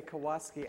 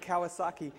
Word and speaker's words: Kawasaki: yesterday he always mispronounces I always want to say kawasi I don't know why it's a motorcycle Kawasaki he was talking about